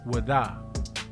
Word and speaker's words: Ouida: The Dahomians had conquered the slave coast, and they set up shop in this town named Ouida, pronounced by the locals as Wada.